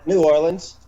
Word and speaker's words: New Orleans: Am I pronouncing that right? New Orleans, New Orleans? Yeah, I mean, New Orleans.